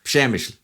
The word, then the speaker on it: Przemyśl: Trust me, it took me a while to get it pronounced right. Eventually, the Polish people started saying, "You got it, Przemyśl."